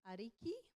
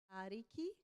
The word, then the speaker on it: ariki: to pull me up if I get my pronunciation wrong. Okay. Next one is Lord, and it's ariki, ariki, ariki.